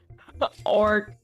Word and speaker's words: orc: The C in orc sounds like a K.